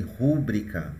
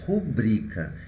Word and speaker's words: rubrica: E algumas pessoas dizem rúbrica, mas não é. O correto é rubrica. Então, quais são as sílabas tônicas? Sortida é o ti e rubrica é o bri.